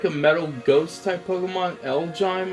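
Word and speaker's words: Elgyem: Elgyme, I think is the way you pronounce its name.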